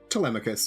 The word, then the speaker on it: Telemachus: Telemachus, yeah.